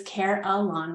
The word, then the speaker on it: Carelon: And as you guys can hear us say, it's Carelon. We have the pronunciation on there. And the name is derived from care and lawn, which means full and complete.